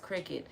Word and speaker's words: Cricut: because they spelled it like this, but it's pronounced Cricut, but it's spelled Curated, and I feel like